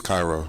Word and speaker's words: Cairo: Egypt called Cairo yeah how many times do people mispronounce your name and say Cairo that's the funny thing everyone says my name wrong it is Cairo it is Cairo it is yeah we've got it